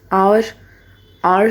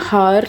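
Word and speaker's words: hour: आर क्या होता है, घंटा, 1 घंटे में। अब इसको एच से नहीं प्रोनाउंस करते, आपको पता ही होगा, हार नहीं कहते हैं हम, आर कहते हैं।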